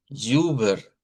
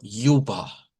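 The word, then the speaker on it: über: le decimos Uber, vea, pero en alemán se dice Uber. Uber, porque es uber, pero la terminación R, si la hacemos como ríciendo alemán rótico. Eh, si es alemán no rótico, entonces esto va a sonar como yuba. Yuba y la terminación R se hace con una vocal que está aquí.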